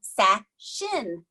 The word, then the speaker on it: Sachin: fashions name is he specifically said to me Sachin Sachin and I made a joke like it sounds like a sash on a dress in something and so